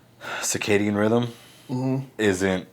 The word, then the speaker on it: circadian: you look that up is it sarcadian rhythm or circadian rhythm circadian i mean i know that but c-i-c-a-d-a i don't